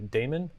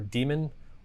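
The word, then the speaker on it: daemon: Uh, so how do you pronounce the word d a m o n? I've always said Damon because there's an A in there. Uh, but it's technically like the old English spelling of the word demon.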